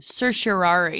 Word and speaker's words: certiorari: the writ of certiorari did i say wrong certiorari certiorari yeah wow okay um anyway you have to submit the the writ of cersei right i think you're lying no that's how you say it anyway you have to